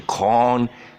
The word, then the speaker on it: corn: Okay, pronounce the corn long sound, corn cake, because if you use the short sound, it sounds like a bad word.